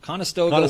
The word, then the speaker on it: Conestoga: and 1998 david this is fun a westward ho conestoga oh i listened to this to find out how to say it properly and i keep forgetting connoisseur stoga conestoga dragon fries food stand opens